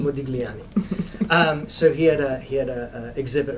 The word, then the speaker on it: Modigliani: And there is an exhibit, Mogliani. I always say it wrong. Anyone can help me out? I have problems saying his name also. Modigliani. Modigliani.